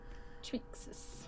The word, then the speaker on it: Triaxis: Let's say the A is silent.